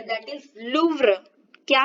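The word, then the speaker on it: Louvre: इन द, ये जो museum है दैट इज लूव्र। क्या है? लूव्र। इसका प्रोनाउंसिएशन देखिए, the earliest inscription in द लूव्र museum, जो फ्रांस के लूव्र संग्रहालय का सबसे अति प्राचीन शिलालेख।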